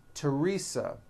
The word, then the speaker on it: Theresa: spelled with a th they are pronounced as if they were spelled with a normal T like that and these words are Thomas Thompson Theresa Thailand Thames like the